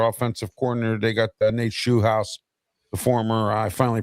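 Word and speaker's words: Scheelhaase: They got Nate Shu House, the former I finally pronounced his name right, the former game coordinator for the Rams and possible Steeler head coaching candidate.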